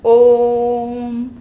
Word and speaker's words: ओम: जैसे कि हम ओम का उच्चारण करते हैं, ओम, है ना, लंबा उच्चारित करते हैं, मतलब लघु स्वर की अपेक्षा इसके उच्चारण में तिगुना समय लग रहा है, दीर्घ स्वर से भी ज़्यादा समय लग रहा है ओम बोल रहे तो।